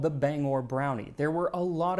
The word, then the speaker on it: Bangor: the form of song explaining that it is pronounced Bangor, not Banger.